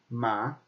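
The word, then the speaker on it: 吗: Okay, so this is pronounced ma.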